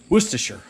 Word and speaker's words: Worcestershire: to say it worcestershire sauce according to google worcestershire all righty folks here's the finished goods there